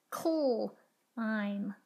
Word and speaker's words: climb: Climb, climb. Notice that the B is silent at the end of the word.